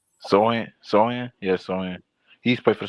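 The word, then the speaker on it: Sochan: Jeremy Sochin. You said Jimmy who? Jeremy Sochin. I don't know how to pronounce his name. Sohan? Yeah, Sohan.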